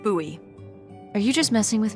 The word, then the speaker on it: Bowie: out this huge Rusty Bowie knife it's actually pronounced buoy what no it's like the last name like David Bowie different last name buoy are you just messing with me no that's